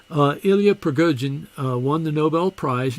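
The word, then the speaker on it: Prigogine: uh ilya pragujian i am corrected about the pronunciation of his name i called it priya jean but it's pergojian uh ilya pragojian uh won the nobel prize in chemistry because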